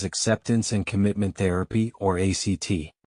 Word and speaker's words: ACT: Tonight we explore a deeply compassionate and empowering approach to mental well-being known as acceptance and commitment therapy or act pronounced just like the word act.